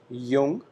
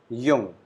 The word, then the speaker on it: jung: we call it schwak then young that is jung whenever we use j alphabet in a given word your sound is produced so we call it jung that is young and old which is alt